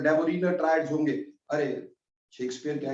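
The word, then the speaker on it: Döbereiner: तो हम डेबोरीनर बोले डेबोनियर बोले उससे कोई फर्क नहीं पड़ने वाला। मैं डेबोरीनर बोलता हूं स्पेलिंग्स को देख करके।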